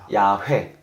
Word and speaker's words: 야훼: 때문에 그렇게 제안했지만 그래서 여호와라는 이름은 잘못된 100% 맞은 발음법은 아니었고 지금 이제 밝혀진 것은 야외거나 야훼 야외 먹은 야훼 일 가능성이 이제 거의 확실하게 여겨진 거죠 그래서 그 이름에 대한